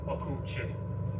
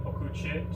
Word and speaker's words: okuwçy: And this letter here, C cedilla, it's pronounced ch. It's not pronounced s like in French. It's pronounced ch, like the CH in English. And this ending, okuchi, just means the one who does.